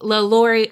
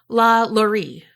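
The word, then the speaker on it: LaLaurie: finally gonna do the LA Laurie mansion however I learned that I was a peasant and Kari told me the correct pronunciation and it is La Lori mm-hmm so yeah I'm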